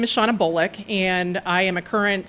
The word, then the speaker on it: Shawna Bolick: So we are introducing you to Shawna Bolick.